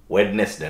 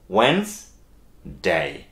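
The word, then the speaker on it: Wednesday: মনে রাখতে হবে যে এটা কিন্তু ওয়েডনেসডে না। ওকে, এটা ডি এর উচ্চারণ ছাড়া আপনাকে যেটা করতে হবে WENES ওয়েন্স, মানে এটার উচ্চারণটা হবে ওয়েন্স। ওকে, অনেকে কিছু কিছু লোক ওয়েনেস বলেন কিন্তু নেসের টার্মটা একটু কম দিলে বেশি ভালো হয়, আপনাকে বলতে হবে ওয়েন্স ডে, এটা একটু কঠিন অব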